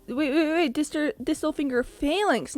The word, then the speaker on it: phalanx: wait disturb thistle finger Phalanx not phalange I'm so sorry I want to end its feelings all the way around I've been saying it wrong the whole time wow realizations that